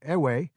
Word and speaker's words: Ewe: So, the label Eve, usually pronounced Eve or Ewe, is an ethnic label,